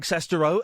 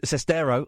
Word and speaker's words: Sestero: midnight the exclusive interview I conducted with Greg cesto and sestero I always say it wrong and Tommy wiso